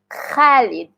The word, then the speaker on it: Khalid: So, for the kha sound, kha kha So, you notice my mouth, I have to say it like clearly like Khalid.